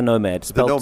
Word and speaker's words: Knomo: right well this this we call the Nomad spell to this case okay no ad okay so the K is always silent with you it is I'm sorry